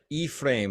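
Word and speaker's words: Ephraim: correctly that's all yeah e-frame it's like e-p-h-r-a-i-m Barnum Jr what I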